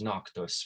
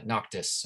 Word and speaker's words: Noctis: the main character's name is noctos which comes from uh noctis i should say his name comes from